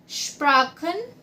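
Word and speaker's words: Sprachen: ठीक है, अगर आप फॉर्मल वे में किसी से पूछ रहे हो तो आप बोलोगे वेल्शा स्प्राखन क्योनन जी। इसको कैसे प्रोनाउंस करेंगे?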